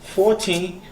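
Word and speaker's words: fourteen: That's why you need to stress out on the last syllable, on the teen, and you need to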